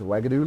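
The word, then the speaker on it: Uagadou: smelled with the U but the way it's pronounced it makes it smell like it's a with a w What does wagadu look like is wagadu a castle like Hogwarts it's addresses mountains of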